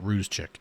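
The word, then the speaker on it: Rzucek: That's how you say it. Ruse chick.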